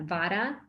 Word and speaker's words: vata: of categorize everyone as a vata or you guys typically pronounce that vada pitta so out of